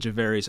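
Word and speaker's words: Gervarrius: javarius Owens it's g-e-r-v-a-r-r-i-u-s I mean usually javarius J but I would say I don't think govarius is a name I could be wrong but I think javares Owens is how you pronounce it safety out of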